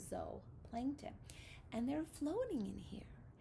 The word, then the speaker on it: zooplankton: animals are called zooplankton zo plankton not zoo even though that looks like it's a spelling for zoo we pronounce it zoe plankton and they're floating in